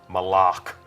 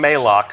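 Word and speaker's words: Malok: Malak. Right. Official pronunciation confirmed. So Malak. if you hear anybody saying Malak, send them right here to the archive of this stream.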